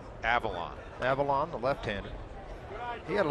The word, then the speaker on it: Avilan: Leander is help me out with the exact pronunciation Drew Avalon Avalon Avalon Avalon the left-hander he had a little hamstring deal